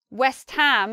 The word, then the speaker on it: West Ham: The ham stands powerfully and stressed by itself.